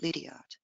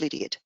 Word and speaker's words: Liddiard: y's and E's example in Australia we actually pronounce it Lydia if I go back to Auburn pronunciation is Lydia so you can hear